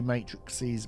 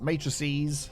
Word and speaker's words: matrices: that needs red energy matrixes matrices that's the right way to say and blue one so